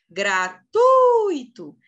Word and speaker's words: gratuito: Gratuito é um ditongo, não é um hiato. É um ditongo. Então, qual que é a sílaba tônica? É o T, o U e o I junto. Tui. Gratuito. E por isso que é uma paroxítona.